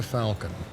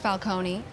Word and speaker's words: Falcone: This is Falcon. She's an attorney representing the company. Sounds like a Marvel character. It's pronounced Falcone, and it sounds like it's Italian.